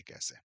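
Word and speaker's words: casa: अब जैसे अगर आप किसी नेटिव को बोलते हुए सुनेंगे कासा लिब्रो तो आप उसको इसी तरह से बोलते हुए सुनेंगे। ऐसा नहीं होगा कि वह बोल रहा हो कासा या लिब्रो वो नहीं होगा।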